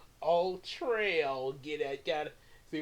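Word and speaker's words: Ul-Trel: His original name is Ultrail. Ultrail. Get that? Got to see what I did there? Ultra Cat, Ultrail, but it's spelled UL hyphen TREL, but sounds like Ultra a little bit.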